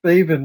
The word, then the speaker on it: Thaven: can just remember Thaven rhymes with Craven.